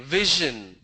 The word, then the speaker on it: vision: VISION, vision. It's a j sound, vision.